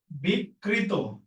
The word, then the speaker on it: বিকৃত: সাথে একটা অ আছে কিন্তু তার আগে ক এর সাথে ঋকার আছে। এই যে রিকারের সূত্র পূর্ণ হইছে। তাইলে ওই এই যে অটা এই অ এর উচ্চারণটা ও এর মত লিখতে হবে। তো আমি কিভাবে লিখবো? বিকৃত বিকৃত। বিকৃত এটা বুঝছি কিনা? বিক কৃনা বিক্রি না বিকৃত তাহলে এটা কি হবে